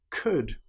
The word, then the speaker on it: could: For example, the word would, could, should. In these cases, again, the L is completely silent.